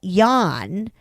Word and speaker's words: Jan: My partner, let's call him Jan, pronounced like Y-O-N, Jan, right?